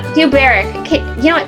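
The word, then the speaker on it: Dubhberach: Duberic. Duberic. Okay, you know what? Spell that so that people know how hard that was for me.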